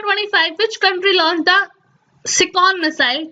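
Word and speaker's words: Tsirkon: Question number 25, which country launched the Sikon missile? T is silent.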